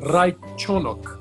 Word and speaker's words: Raichenok: Então é Alexander Raikkonen.